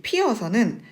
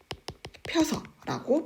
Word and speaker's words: 피어서: 피어서 학생에서 이 피어서는 모음이 충돌하는, 그러니까 단모음이 충돌하기 때문에 피어서. 자, 모음을 연속으로 발음하는 게 어려워요.